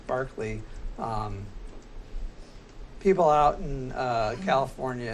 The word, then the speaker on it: Berkeley: the philosopher it's Barkley when you're talking about the the school it's Berkeley yeah so he can't